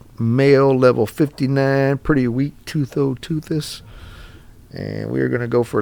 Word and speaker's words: Tusoteuthis: It's called a Tusoteuthis.